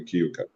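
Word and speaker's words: Keuka: We have the same name, and you pronounced it correctly, Kyuka.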